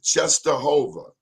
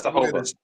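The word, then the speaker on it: Częstochowa: I didn't know how to pronounce it. Czestochowa. And that's Czestochowa.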